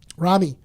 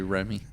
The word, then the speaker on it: Ramy: Ramy. Ramy. It's actually Remy.